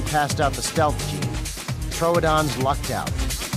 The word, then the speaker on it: Troodon: fell out of my chair laughing when she pronounced Troodon tridoon and uh it's that Meme is taking on